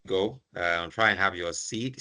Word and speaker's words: SEADE: Try and have your seed. Say seed. Seed. Yeah. Say seed. Yeah. You know in some parts of the world the this the term is pronounced as seat.